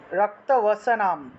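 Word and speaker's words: রক্তবসনাং: ত্রিনেত্রাম রক্তবসনাম, রক্তবসনাম অনুস্বার থাকায় ম।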